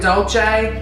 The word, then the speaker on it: Dolce: c e SL raisin we're going to go with doce cuz it's like doce and gabana okay so when I'm